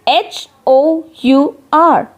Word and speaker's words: hour: H is silent here.